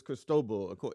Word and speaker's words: Cristobal: Yeah, it was Cristobal.